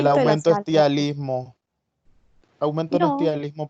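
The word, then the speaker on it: ptialismo: Cialismo, cialorrea o tialismo. Se escribe PT, tialismo.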